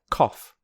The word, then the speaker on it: cough: Cough, which rhymes with off.